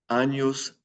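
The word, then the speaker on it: años: it means how many anos it means years the N with the line over it is pronounced like an N Y anos and there's our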